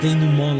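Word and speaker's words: dénouement: game it's a needless day new mall they just because i'm pretentious so i pronounced ding mon like it's a french word because it is it's a needless day new mod that just feels tacked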